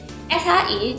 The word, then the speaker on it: shi: SHI cara bacanya seperti saat teman-teman itu lagi nyuruh temennya yang lain diem.